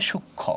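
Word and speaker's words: সূক্ষ্ম: আছে না হ্যা ইয়েস যুক্তবর্ণ থাকলে সবসময় যুক্তবর্ণ থাকলে উচ্চারণ কখনো এখানে মফলা উচ্চারণটা হবে না তাহলে কি হবে সূক্ষ উচ্চারণটা কি হবে সুক্ষ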